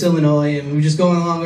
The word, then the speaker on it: Illinois: He keeps on saying, Illinois, Illinois, Illinois, to the point where I just had to stop my act and say, the S is silent, just like the being dumbass.